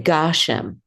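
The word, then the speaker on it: גשם: So when we say in the weekly or the daily Amidah, Murid HaGashem, we say Gashem. And that is because the accent is on the first syllable.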